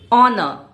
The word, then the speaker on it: honor: Honor. Yes, the H is silent here too. It sounds like honor. For example, it's an honor to meet you.